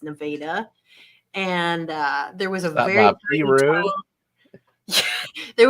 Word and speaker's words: Nevada: It's not Nevada or Nevada. It's Nevada.